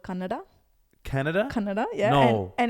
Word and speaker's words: Kannada: My mother tongue is actually called Kannada.